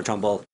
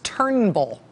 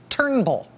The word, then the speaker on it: Turnbull: conversation with prime minister Trumbull his name is not Trumbull it's Turnbull just those two syllables Turnbull while he has respect